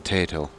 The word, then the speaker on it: Tayto: You need to get your hands on some Tato. It's spelled Tayto.